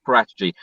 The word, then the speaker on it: Paratici: So every Italian person I've spoken to, they say Fabio Paratici.